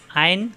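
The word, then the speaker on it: ع: কীরকম নমুনায় আসবে আইন, সবাই শুনে রাখুন, আইন শব্দের শুরুতে থাকবে এরকম, মাঝখানে থাকবে এরকম, শেষে থাকবে এরকম, আইন, কণ্ঠনালীর মাঝখানে চাপ দিয়ে, আইন আইন আইন, জবর আসলে আইন জবর এরকম হবে, আ হবে না, আ হলে হামজা হয়ে যাবে।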